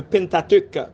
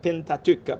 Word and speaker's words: Pentateuque: qu'on a dit le Pentateuque. Pentateuque. Pentateuque, il y a des gens qui disent Pentateuque, il y a qui dit Pentateuque, mais m'habituer avec Pentateuque.